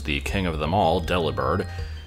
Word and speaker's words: Delibird: of them all delibird although it's probably supposed to be pronounced to delivered nobody ever actually says it that way but I'm pretty sure the name is supposed to be a pun on the word delivered because it delivers presence and it's a bird